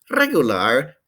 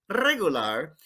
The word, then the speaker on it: regular: bien very well mal regular o don't forget to trill that r it makes it so spanish regular uh that outrageous trill